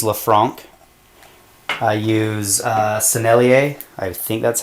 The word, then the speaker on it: Sennelier: two I use La franc I use uh sennelier I think that's how you say it um